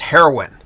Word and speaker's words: Haroun: is hard to pronounce so it's h a r o u n it's pronounced heroin okay I'm trying to be